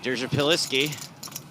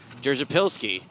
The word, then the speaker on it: Derzapilski: Derzapilski. No, I think I added an extra syllable there. Derzapilski.